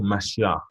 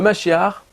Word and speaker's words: Mashiach: Donc comme vous avez vu, donc il parle du Messie, Mashiach, qui se termine avec H et prononce ça comme avec un R à la fin.